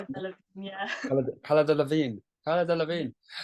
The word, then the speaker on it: Delevingne: Okay, yes, we have that inspiration and we have that thing from is it Cala Levine? How do you pronounce Cara it? Delevingne, yeah.